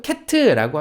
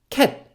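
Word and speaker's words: cat: 자 다음 장은요 고양이에요 고양이도 캣트라고 하지 마시고 그냥 캣 ㅅ 발음으로 끝내주세요 저랑 같이 한번 해볼까요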